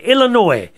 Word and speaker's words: Illinois: oh I've been corrected Illinois the S is silent I've always called it Illinois you've probably heard me